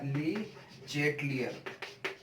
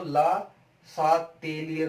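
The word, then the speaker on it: Le Chatelier: English वाले तो इसको, इंग्लिश मीडियम वाले तो ली चेटलियर पढ़ते हैं, और हिंदी मीडियम में इसी बात को ला सातेलियर पढ़ते हो। क्या प्रोनाउंसिएशन है, अपना अपना स्टाइल है कैसे इसको पढ़ने का है। इंग्लिश में ली चेटलियर पढ़ते हैं इसी को, और हिंदी वाले मीडियम वाले इसी को ला सातेलियर बोलते हैं, ला सातेलियर बोलते हैं,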